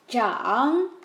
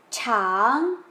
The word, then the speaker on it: 长: El siguiente es zhang, que significa crecer o líder. Sin embargo, tiene otra pronunciación cuando queremos utilizarlo como un adjetivo, como largo, por ejemplo. Un río es largo, el pelo es largo, pues ahí se pronunciaría como chang.